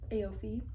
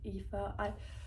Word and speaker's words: Aoife: No, sorry, Aoife. when I read the books, I literally said in my mind Aofi like the whole freaking time, and then I found out afterwards it's actually like pronounced like Aoife.